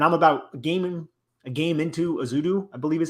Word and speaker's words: Ezeudu: And I'm about a game into Ezeudu, I believe is how you say it right now.